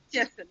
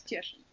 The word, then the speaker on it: Cieszyn: I can't pronounce it. Cieszyn, yes, it's Cieszyn, University of. Kiesin in Poland.